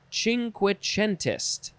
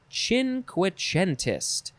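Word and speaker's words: cinquecentist: kane next is ching ching quichentest ching quichentest c-i-n-q-u-e-c-e-n-t-i-s-t chin quichentist noun from 1871 an italian of the cinquichento i think that's how you say it cinquecento especially a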